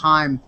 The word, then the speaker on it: Haim: talked-about artists were Haim looks like Haim but it's pronounced Haim la girls who are